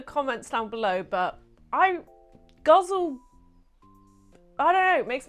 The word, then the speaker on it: ghazal: found many different ways to pronounce this including on the Poetry Foundation website which said that it is pronounced “guzzle” however because this is an Arabic writing form, I found places that say it's pronounced ghazal that sounds a bit more correct. So that's the way I'm gonna say it, unless it is guzzle like let me know in the comments down below.